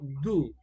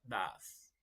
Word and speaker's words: does: Cuando se utiliza el verbo do, en este caso como verbo principal, en la tercera persona del singular, no se pronuncia do, ni se escribe do, se escribe do es, pero se pronuncia das.